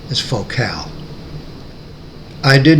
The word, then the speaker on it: Focal: focal is a french speaker company and in america we are likely to pronounce it focal as in a lens focal length but the french pronunciation is focal i did not use height channels for listening